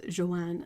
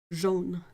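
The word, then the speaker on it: jaune: How I usually pronounce it as Joan. No. Uh a U together as a sound in French is like an O. So it's Jean.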